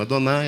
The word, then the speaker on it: Adonai: ouvir muito essa expressão, Adonai, Adonai, Adonai, Adonai, Adonai. Adonai é exatamente essa pronúncia que o judeu faz no nome de Deus, porque ele aprendeu que é assim que as coisas funcionam.